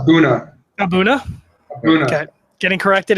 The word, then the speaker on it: A'bunadh: Just make sure you call it Abuna.